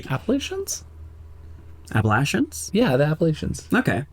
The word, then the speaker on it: Appalachians: in the Appalachians no it's not easy not Appalachians Appalachians Appalachians yeah the appal okay that's fair yeah